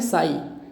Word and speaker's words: psi: ठीक, इस साइन को बोलते हैं साई, PSI। पी साइलेंट है, आपको पीसाई भी बोलना है, पीसाई भी बोल लो।